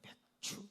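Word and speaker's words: 맥추: 우리가 2022년도 전반기를 마무리하고 2022년도 후반기를 발을 디디면서 우리가 맥주 감사 예배로 하나님께 드립니다. 우리가 이 발음을 잘못하면요, 맥주 감사, 먹는 맥주 있잖아요. 그렇게 발음하기가 쉬운데 그게 아니고 다시 맥주 감사, 맥주 감사 예배로 하나님께 드립니다.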